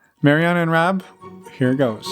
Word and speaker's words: Mariana: little bit do you mind introducing yourselves uh Mariana and Rob did I do it right did